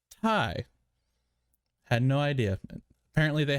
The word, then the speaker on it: Ti: announced the 3070 ti which i learned today is not pronounced ti is pronounced thai had no idea apparently